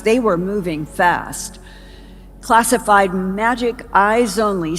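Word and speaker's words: MAJIC: for joint intelligence and Magic spelled with a J in the United States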